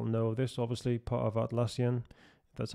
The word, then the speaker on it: Atlassian: software teams we'll know this obviously part of atlassian that's how you pronounce it we have so many of these